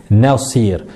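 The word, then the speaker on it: ناصر: Et ce n'est pas parce qu'elle est emphatique qu'il va falloir prononcer le nun d'une manière emphatique. Chaque lettre, son, d'accord? Il faut respecter chaque lettre. Donc d'abord on a ne, et après on a sir.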